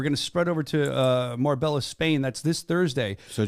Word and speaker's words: Marbella: just so you know how you pronounce this Marb sorry Marbella I read I do I actually have it here in my notes is morb spelled out and I said Morella yeah I'm a jerk